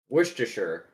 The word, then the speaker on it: Worcestershire: you topped with a lager worcestershire for sure worcestershire actually never pronounced that i grew up in that county